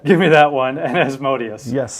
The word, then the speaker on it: Asmodeus: Give me that one, and Asmodeus. Yes. Or Asmodeus, as various people pronounce it.